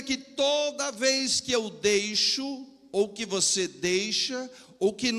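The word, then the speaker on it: δεῖ: No original Gideão, essa palavra significa dei, se escreve, aliás, se pronuncia dei, que vem lá do grego.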